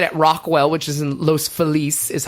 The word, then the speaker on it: Los Feliz: But I'm doing it at Rockwell, which is in Los Feliz, is how they pronounce it.